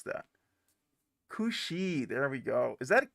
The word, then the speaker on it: Ku Sidhe: Is how do you pronounce that? Kushi.